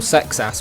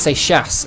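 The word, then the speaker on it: Seixas: they can call Paul sex ass Paul sex assass and they don't have to try saying seas. It's French. It's pronounced say shass.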